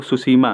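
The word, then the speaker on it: Tsushima: अगर पूछे आपको सुसीमा, तो इसकी भी स्पेलिंग टी से ही शुरू होती है।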